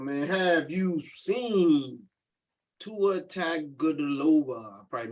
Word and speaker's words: Tagovailoa: Let me got Tua Tagliacelli. Tua T. Where you at? Tua Tagovailoa.